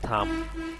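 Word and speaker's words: thumb: তারপর এখানে বির উচ্চারণ এখানে না আসে এখানে হবে থাম।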